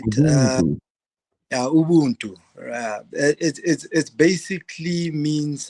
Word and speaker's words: Ubuntu: Yeah, so basically Ubuntu, it's pronounced Ubuntu, right? Ubuntu.